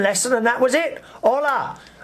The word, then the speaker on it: hola: Hola. Not pronouncing the H.